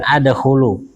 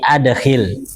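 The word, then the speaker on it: أَدْخِلْ: Itu bacanya adkilhil bukan adkhulu tapi adkhil.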